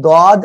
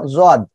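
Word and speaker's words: ضاد: যাই হোক, টোটাল কথা হলো যে আপনি দদ অথবা জদ যে কোনোটা বললেও সমস্যা হবে না ইনশাআল্লাহ।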